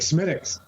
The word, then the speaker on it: Smithwick's: like Leicester or whatever it looks like it's pronounced. Yeah, right. Right. Like Smithwick's.